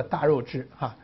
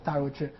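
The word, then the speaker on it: 大月氏: 对，我上历史的时候是读作大肉之这个月字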